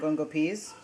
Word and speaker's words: gungo: Rice and gungo peas. Congo peas on there, what we pronounce it gungo peas.